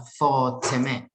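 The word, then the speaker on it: فاطمه: Ada Fatimah atau dalam pelafalan kita disebut Fatimah. Ini dibaca oleh mereka adalah Fatimah. Fatimah.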